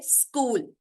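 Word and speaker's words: school: स्कूल में H silent है, स्कूल।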